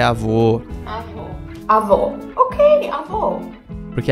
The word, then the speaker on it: avô: Avó. Avó. Ah, não, ela falou avó, mas é avô.